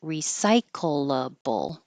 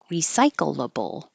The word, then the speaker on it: recyclable: You can pronounce every syllable or you can make it shorter. So every syllable is recyclable, recyclable, or you can push